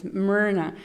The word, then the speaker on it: Mirna: thing you can say, I've been called Mirna, Morna, Marna, Irma, and so it's okay. I understand, they don't know how to pronounce it, and then I mispronounce it a little bit so they can actually, pronounce it well. It's Mirna, and but it's no. My name is actually Mirna, and so.